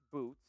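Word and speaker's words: Bootz: and by the way my name is pronounced Miss boots but it's spelled with a z instead of s l I'm a female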